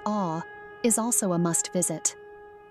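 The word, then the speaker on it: Å: O, pronounced as awe, is also a must visit.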